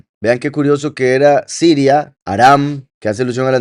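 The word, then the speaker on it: ארם: de Siria que repito en hebreo anda muy lejos la pronunciación es aram Entonces sería el aramí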